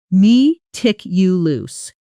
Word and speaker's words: meticulous: The stress falls here. Me tick you loose.